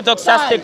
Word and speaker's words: doxastic: It's a doxastic notion. You're just trying to do What was praise. it? I'm not pronouncing it. Doxastic. Doxastic. Like a doxology.